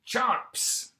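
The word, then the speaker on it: CHNOPS: How would you pronounce that? I pronounce it chomps.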